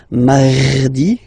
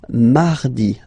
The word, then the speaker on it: mardi: You don't need to go too deep like mardi, no, no, no. You don't move your tongue, so it doesn't sound like mardi, no. It's really soft, mardi, mardi, mardi, okay?